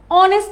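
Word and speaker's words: honest: দেখো, she gave N অনেস্ট answer. আমরা কি এইচ জানি, এইচ কিন্তু একটা কনসোনেন্ট লেটার, কিন্তু তাও অনেস্ট, রাইট? অনেস্টের প্রোনাউন্সিয়েশনটা কিন্তু আমরা এইচটা কিন্তু সাইলেন্ট থাকে, প্রোনাউন্সিয়েশনটা হয়ে যায় অনেস্ট।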